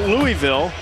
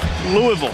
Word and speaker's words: Louisville: Back in Louisville. Been here a number of times for the Kentucky Derby basketball. Louisville, I think, is the preferred pronunciation by the locals.